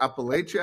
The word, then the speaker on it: Appalachia: Is it Appalachia or Appalachia?